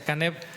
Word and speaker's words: Caneb: Al leerlo juntos se pronuncia Caneb.